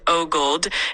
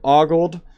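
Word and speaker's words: ogled: way of pronouncing um Augled? Um down to the least popular way of pronouncing girl and YT and channels there is about pronunciation in the US is usually with O sound at the beginning.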